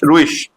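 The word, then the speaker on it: ruhig: word है अपने पास आर यू एच आई जी तो ये हो जाएगा रू और इश रूश एच आ रहा है यहां प देखो एच से पहले वल आ गया तो एच रीड नहीं होगा तो ये इश हो जाएगा रु हो जाएगा यहां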